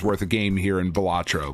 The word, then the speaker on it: Balatro: It's Balatro.